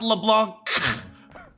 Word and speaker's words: LeBlanc: volunteer for Yuji how about LeBlanc LeBlanc it's pronounced LeBlanc hmm hey coffee dad oh what's with a